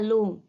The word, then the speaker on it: l'homme: The other example is il parle à l'homme. He's talking to the man. Now H is a semi-vowel, or we can say H is silent.